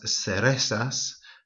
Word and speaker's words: cerezas: Might also be worth mentioning at this point that Z in Latin America and in the south of Spain is pronounced more as a S. So unas zanahorias or unas cerezas.